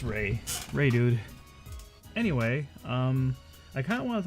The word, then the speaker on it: Reidood: going on everyone this is Ray dude yes ray dude not redo door I do it's ray dude I guess it's the first thing we're gonna